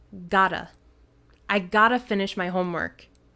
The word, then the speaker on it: gotta: And in fast speaking, got to is pronounced like gotta.